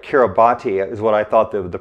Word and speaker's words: Kiribati: The vegetable oils in three Pacific islands, Solomon Islands, Kiribati, and Samoa, they were exceedingly low, almost zero, and those islands have almost no macular degeneration.